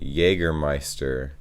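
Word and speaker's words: Jägermeister: speakers usually say jaegermeister jagermeister yeah that's true jagermeister is pretty much the same just with a pretty thick accent and people also often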